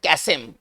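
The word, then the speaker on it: chasm: अब इसका सिनोनिम्स क्या होगा, चलिए एक बहुत बढ़िया वर्ड है कैसेम। कैसेम इसको पढ़ेंगे कैसेम, थोड़ा इसको उच्चारण पर ध्यान दिया जाए, इसको पढ़ेंगे कैसेम।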